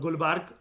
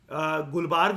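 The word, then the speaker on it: Gulbarga: मतलब टू be precise गुलबर्ग जो है वो वैसे आंध्र प्रदेश के अंदर है। ठीक है, क्रॉस चेक कर लेते हैं, कोई बात नहीं। वो ए साइलेंट होता है।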